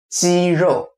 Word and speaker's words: 肌肉: Next one, muscle, 肌肉，肌肉。 I know, it sounds like chicken meat, 肌肉。